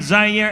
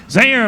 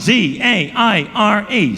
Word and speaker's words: Zaire: Howard Cosell coming to you ringside here in Zaire, Africa. Zaire, of course, is spelled Z-A-I-R-E. Some would pronounce it Zaire. They're wrong.